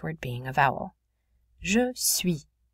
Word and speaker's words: suis: Je suis. Notice UI makes a oui sound.